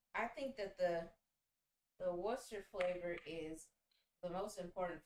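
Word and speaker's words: Worcestershire: cup of wash of Worcester sauce I never know how to pronounce it it has way more letters in it than you actually pronounce um but I'm just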